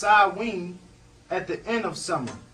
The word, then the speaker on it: Samhain: made first flip and Samhain pronounced odwin at the end of